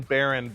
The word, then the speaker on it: Baehrend: Baron, the last name.